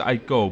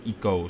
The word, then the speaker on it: ICO: i'm pronouncing eco right i always thought it was i'd go but uh i looked on the team eco wikia and it says it's pronounced double e and co so like it go so yeah that's what